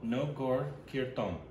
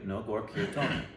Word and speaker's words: Nagarkirtan: Nagarkirtan. That's it, phonetically, Nagarkirtan.